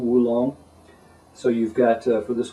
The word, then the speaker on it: oolong: your other green rolled oolongs. That just a note there. Some people will say oolong, double O. The Chinese mainland pronunciation is often wulong, W-U, wulong.